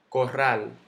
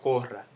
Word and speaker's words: corral: Corral. Yo no digo corral, yo digo corral. Termina en L, no lleva tilde.